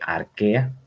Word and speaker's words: arquea: llama dominio arquea así se lee se lee arquea ch en latín al leerlo se pronuncia como caja o se escribe como q